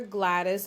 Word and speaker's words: Gwladys: Um, so I'm Forever Glattis on all social media, Instagram, YouTube, Tik Tok, Pinterest, Facebook. Yeah, everywhere. My name is spelled G W L A D Ys. The W is silent.